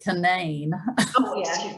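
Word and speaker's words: Canaan: was some residential actually in west virginia they pronounced it canaine thank you and the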